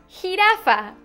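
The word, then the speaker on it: jirafa: but it's a g but in Spanish it's with a J but it sounds like an h hiaa i know it's complicated but we'll get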